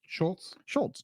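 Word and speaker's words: Schulz: How do you pronounce his name? Schultz.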